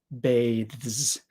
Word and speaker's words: bathes: so it becomes bath bathes because it is a voiced th sound the S is going to make more of a z sound bathes bathe but let